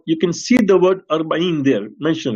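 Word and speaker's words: أربعين: Waziyatul Arbain. Now you can see the word Arbain there mentioned, right?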